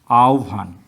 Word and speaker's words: আহ্বান: যেমন আমরা অনেকেই ভুল করি, আহ্বান বলি, এটা আহ্বান হবে না, এটা হবে আহ্বান। আহ্বান।